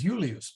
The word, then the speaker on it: Julius: heard the word Julius so the the I as a consonant sort of is a y sound okay who use um